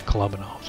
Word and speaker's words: Kolobanov's: my fifth oh how do you want to pronounce kala Bono's collabing all's of your Klaus Kellerman it's club and alls but in a nice added bonus the Pascucci